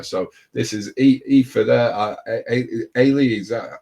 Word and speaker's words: Aoife: Ailey, is that how I'm pronouncing it right? Ailey, yeah.